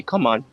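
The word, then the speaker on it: cảm ơn: And if you want to say if you want to say thank you, you say come on. Like come on. Like come on with me.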